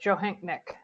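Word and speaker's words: Johanknecht: our King County Sheriff, Mitzi Joanecht. Is that pronounced okay? That's pretty close, Johanknick.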